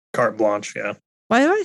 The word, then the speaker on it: carte blanche: Carte blanche? Carte blanche, yeah.